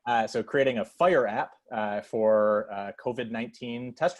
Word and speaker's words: FHIR: creating an fhir app if i'm not mistaken it's pronounced fire am i correct kevin yep so creating a fire app for uh covid19